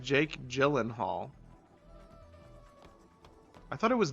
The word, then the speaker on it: Gyllenhaal: It was like a It's It's pronounced Jake Gyllenhaal. I thought it was Gillan Gahula. I just choose to say I just choose to say Gillan Hall.